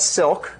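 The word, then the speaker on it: Cilk: Dynamic multi-threaded language called Silk spelled with a c because it's based on the language C and it's not an acronym uh it's uh because silk is like nice threads okay and although we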